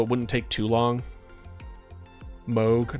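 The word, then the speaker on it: Mohg: Moog, not Mog. I mean, tomato, no? Or should I not pronounce the H enough?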